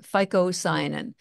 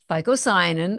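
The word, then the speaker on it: phycocyanin: a very unique pigment in it called fosin that's spelled phy Co c y a n ficoin you've probably never heard of it it's not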